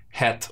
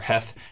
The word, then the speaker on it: het: begin with the hebrew letter het or heth depending on how you say it and i just